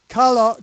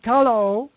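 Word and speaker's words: χαλάω: And what you see is it says chaleo, actually pronounced Khalaaho, kalao, is from the base of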